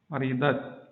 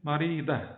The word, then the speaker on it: marida: Comme ça, maridat, ça, ou ti, ou tu. Ou bien si on s'arrête, on ne va pas dire ça, on va dire marida, comme ça. À l'arrêt. À l'arrêt, marida.